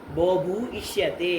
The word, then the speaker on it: बोभूष्यते: बोभूष्यते ईष्यते यो और ई दो के ध्यान से बोलो। बोभू ईष्यते।